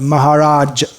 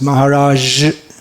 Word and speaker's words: Maharaj: native English speakers to pronounce the word Maharaj as Maharaj more like that just like the word prestige it should be a just well if you say this like the word luggage GE at the end